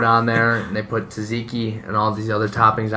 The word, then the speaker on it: tzatziki: And then they throw it on there, and they put tzatziki and all these other toppings on there. Nice pronunciation, by the way.